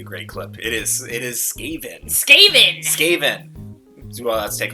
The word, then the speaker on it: Skaven: It is Skaven. Skaven! Skaven! Well, let's take a look at Skaven. Can I mispronounce everything and then you'll put it in